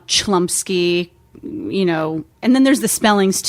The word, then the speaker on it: Chlumsky: do people usually say i've gotten chamulski the most common error um chlumsky you know and then